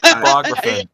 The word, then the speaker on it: Apocryphon: Apocryphon. Apocryphon's how you say it.